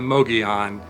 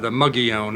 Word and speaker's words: Mogollon: any encounters with yet are the Mogollon, or Muggy-Ohn. I don't know how they pronounce it in these parts. I know there's slightly different pronunciations of it, but this is my